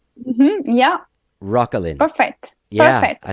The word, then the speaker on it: Roquelin: Roquelin.